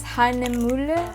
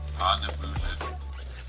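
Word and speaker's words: Hahnemühle: It's pronounced as Hahnemuhle. I think I did get it right the first time. Oh my gosh, I'm so sorry. Hahnemuhle.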